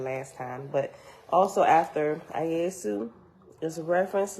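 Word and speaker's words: Iesu: time but also after ayesu is a reference letter e and it's spelled i-e-s-u right which we know over time was translated and that's how we got the name Jesus right we ain't gonna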